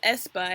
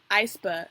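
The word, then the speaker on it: aespa: think is weird because they spell it it's i and it's a e like espa but espa is espa and not iceber so i was like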